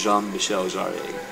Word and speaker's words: Jean-Michel Jarre: i i'm loving the music by the way jean-michel jarrett is spelled gene michelle jarrett but jean spelled pronounced jean-michel jarrett it's french but yes here's my reasoning first